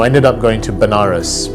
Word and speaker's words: Benares: So I ended up going to Benares, which is a place in India, sometimes pronounced as Vanaras, which is a place